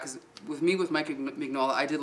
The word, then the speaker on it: Mignola: with me with mike mignola i did like him or sorry mignola is the proper pronunciation right um but the